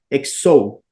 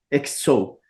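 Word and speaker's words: ἕξω: como la quieran pronunciar, se transforma en una X, que es ese signo, pero nosotros la pronunciamos como X, entonces sería exo, exo.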